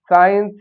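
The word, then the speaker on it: science: अगर एस के तुरंत बाद सी आता है तो फिर सी जो है वो साइलेंट हो जाता है। फिर हम पढ़ने में सी का उच्चारण नहीं आता है।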